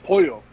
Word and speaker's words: Pollo: It's Pollo. Pollo. No. L's are Y. Yes. L's are Y. Yeah. Say it again. I believe. Yeah. El L's Pollo.